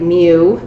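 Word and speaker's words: μ: of the sample and this new this is pronounced me like mu it's a Greek letter and it represents population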